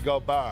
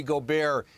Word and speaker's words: Gobert: Rudy Gobert.